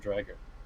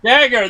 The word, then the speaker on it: Dagger: The rifle, the drag and dragger. Not dragger, dragger. Dagger. The dagger. Yeah, the dagger.